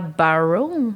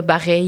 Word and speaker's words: Bareilles: Sur place, j'avais chanté Gravity de Sarah Barrow. Je sais pas comment on prononce ça. Bareilles. Sarah Bareilles. Sarah Bareilles, bon.